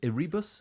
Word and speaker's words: Erebus: And this expedition went out, the Franklin expedition, 2 ships, Terra and Erebus. Am I pronouncing that right? Erebus, I think it is, yeah.